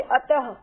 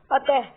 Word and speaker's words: अतः: जैसे अतः, इसमें उसका उच्चारण करते हैं तो थोड़ी सी है की ध्वनि आती है, अतः, प्रातः है।